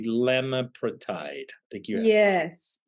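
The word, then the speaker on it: elamipretide: I was mispronounced. It's ELAMIPRETID, lemapretide.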